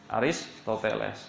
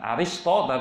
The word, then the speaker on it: Aristoteles: Solo seksama Alvaro gitu ketika membaca Aristoteles itu bukan aristotle by Oksa Bonang rumus-rumus